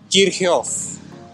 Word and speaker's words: Kirchhoff: It's actually pronounced Kirchhoff.